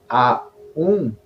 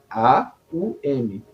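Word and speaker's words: AUM: m a u m a u m então nós dizemos assim a Então são três palavras a u m mas a letra M nós a pronunciamos como hum no final né então o mantra que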